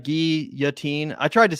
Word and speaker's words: guillotine: Guillotine is pretending sorry Guillotine is pronounced Guillotine that's right GI yatin I tried to say